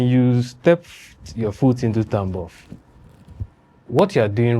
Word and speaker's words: Tambov: Is it Tambov? What do you pronounce? Tambov.